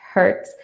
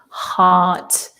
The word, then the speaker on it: heart: We have heart and not hurt. Yeah, it's one of these unusual spellings for the pronunciation. Yes. A for a heart, and hurt is more like a bird hurt.